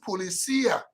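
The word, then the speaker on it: policía: told me that in in Spanish it is pronounced policia you say you have to emphasize on the sea so if you have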